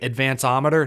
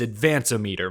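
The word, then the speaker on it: Advanometer: out the Advan meter some have been pronouncing it Advan ometer no it's Advan om meter my Advan meter my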